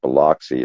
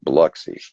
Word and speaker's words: Biloxi: correct me on my pronunciation because it's not pronounced Biloxi, it's pronounced Biloxi.